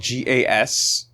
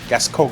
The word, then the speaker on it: Gascoigne: And so the assumption based on French pronunciation ends up being coin, where like because OING, right? Or either that, or if you want to go Parisian, then you go cogne, Gascoigne. Gascoigne, yeah.